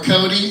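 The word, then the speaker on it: Coté: My last name is Cote, or Cody, spelled C-O-T-E, incredibly easy to spell, incredibly hard to pronounce for some fucking reason.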